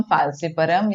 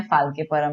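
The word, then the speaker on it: falciparum: इनमें से सबसे ज्यादा खतरनाक जानलेवा कौन है, प्लाज्मोडियम फाल्सिपरम, या फाल्किपरम भी आप प्रोनाउंस कर सकते हैं।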